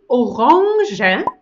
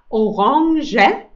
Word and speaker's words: Orange: haben wir die orange das ist eine orange orange also nicht orang nein nein nein orange und die farbe sprechen wir so aus der orange orange also du kannst sagen die orange ist orange das portemonnaie das portemonnaie